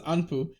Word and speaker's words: Anpu: Is that just Amp? That's how you pronounce it, Amp. Oh, that was Anpu. So yeah, it looks like it, but when you hear it, remember they go, "Oh, Amp."